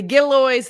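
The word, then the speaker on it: Gillioz: The Gilloys Theater, and that is how you say it, the Gilloys Theater is asking the community for help as it prepares for its 100th anniversary.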